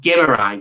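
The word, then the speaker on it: Guimarães: never came in so his name is pronounced Bruno gimmer as far as I'm aware um and for some reason I just kept mispronouncing it and mispronouncing it h so I said I need to improve on this gimmer that's what I'm going with and even then probably not 100% accurate as I said I'm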